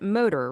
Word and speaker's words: MTR: framework it's you know you spell it mtr move think rest but you pronounce it motor Right.